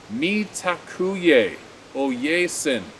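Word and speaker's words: Mitákuye Oyás'iŋ: The phrase is Mitakyu Owesin, pronounced Mitakuye Oyesin, Sin, Oyasin.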